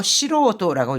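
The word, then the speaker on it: 素人: 시로도 같은 경우에 좀 읽기가 지금 뭐 닝징 이거는 전혀 다르게 읽히잖아요. 잘 기억해 두시고 시로오도라고 읽습니다.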